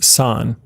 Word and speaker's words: 三: the kanji for three the own Yomi or Chinese pronunciation is Sahn the kun Yomi or Japanese pronunciation is me and Mitsu if